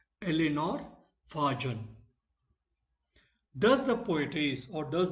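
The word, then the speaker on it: Eleanor Farjeon: How it is pronounced? Eleanor Fajon.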